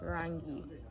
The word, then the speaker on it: rangi: so first of all kala in swahili is pronounced rangi rangi around you that's